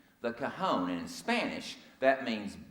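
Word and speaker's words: cajón: This is an instrument, the cajon. That's spelled C-A-J-O-N. The cajon, and in Spanish, that means box or drawer.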